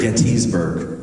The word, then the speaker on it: Gettysburg: Is it Gettysburg or Gettysburg? Gettysburg. Are you sure? Do you go to Getty Gas or Get a Gas?